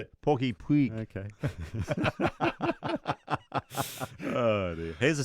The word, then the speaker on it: Puig: No, don't call him Pig. Puig. Yeah, I know. Puig. I said Puig.